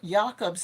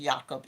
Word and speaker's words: Jakob: Now, Jakob's name is spelled Jacob, but I believe it's pronounced Jakob in German.